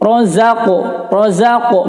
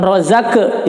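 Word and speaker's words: رزق: Razaqo qalqalah sughra, ya, dibacanya karena qaf itu qalqalahnya adalah seperti mantulnya itu adalah seperti bunyi o, ya, sedikit. Razaqo bukan rozake, ya, tapi o.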